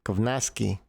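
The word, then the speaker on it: Kownacki: Kovnatsky. Konatsky, yeah. That's as close as you're gonna get because W like in Poland is V, like Vak.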